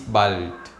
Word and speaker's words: bald: see you soon, bis bald. Remember, when you have the letter D at the end of a verb, we pronounce it as T.